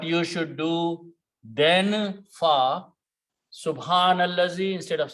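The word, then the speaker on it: سُبْحَانَ الَّذِي: If it is pronounced, it is subhanallazi.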